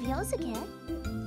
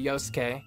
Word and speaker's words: Yosuke: Well, in honor of Sho's cosplay of Yosuke. You see, that's a pronunciation that I would more readily jump to, where you can actually hear the z.